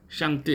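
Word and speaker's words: 上帝: 그러니까 중국에서 이제 기독교 방송을 이렇게 할 때 여러분 하나님을 상제, 샹띠 이렇게 발음하더라고요.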